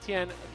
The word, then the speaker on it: Tien: we're going to go with Tien.